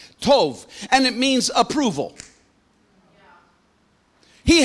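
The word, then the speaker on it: טוב: Here it literally means, it's the Hebrew word tov, T-O-B, pronounced with a V at the end, T-O-B, tov, and it means approval.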